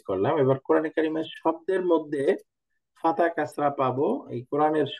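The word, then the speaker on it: مَعَ: একইভাবে মিম ফাতহা মা, আইন ফাতহা আ, দুইটা মিলে কি হয়ে গেল? মা, মা। এই যে আইনের উচ্চারণটা খেয়াল করেন, মা, মা, মা, এবং উচ্চারণ তাড়াতাড়ি, টান হবে না কোনো, মা।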